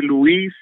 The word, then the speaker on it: Luis: on who it is my mama calls me Louise everybody else calls me Louis but all right mon